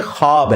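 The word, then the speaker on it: خواب: नहीं आ सकता अच्छा ये लफ्ज लिखने में है ख्वाब खवा व अलिफ बा लेकिन पढ़ने में यह खवाब है व साइलेंट हो जाता है ख्वाब पढ़ा जाता है ये लफ उर्दू में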